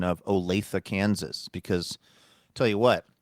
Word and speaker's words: Olathe: It looks like it's Olathe. Mm-hmm. It should be Olathe, but it's not.